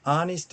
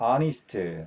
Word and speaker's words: honest: 자 honest 발음이 모음이기 때문에 부정가서 언 쓰고 있어요.